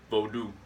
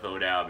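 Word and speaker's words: Vodou: bowed out you pronounce it's technically pronounced voodoo for the Haitian version that I that I practice what I call it vote out because American English speaker but um people react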